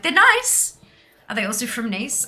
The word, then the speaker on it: Nice: balls everywhere and um biscuits were named after the city in the south of france and pronounced the same as that city they've been part of the arnis range since 1922.